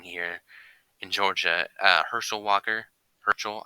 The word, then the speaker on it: Herschel: Herschel, I think, is actually how you pronounce it.